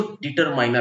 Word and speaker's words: determiner: करना और इसीलिए इसको डिटरमिनर कहते हैं डिटरमिनर्स कहते हैं इसका सही उच्चारण होता है डिटरमिनर लोग डिटरमिनर बोल जाते हैं डिटरमिनर नहीं होता है डिटरमिन होता है तो चलिए हम इसको